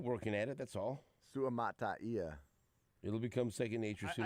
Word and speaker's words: Suamataia: I believe with names like that, you just the biggest thing to remember is to pronounce all of the vowels. You know? Suamataia. Hmm? Is that it? Yeah. Suamataia. Because there's that A-I-A at the end.